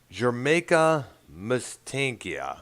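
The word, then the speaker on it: Jamaica Mistaica: Jimmy Buffett where you mentioned Margaritaville we'll have Jamaica mystankia yes that's how it's pronounced have you ever heard of that song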